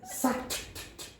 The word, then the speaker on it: sat: Pronounce the last consonant. If you take it out, it is so hard for English native speakers to understand what you're saying.